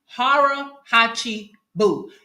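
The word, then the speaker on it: hara hachi bu: I'm going to pronounce this right, but it's harachi boo. Harahachi bu. Now, let me spell that for you.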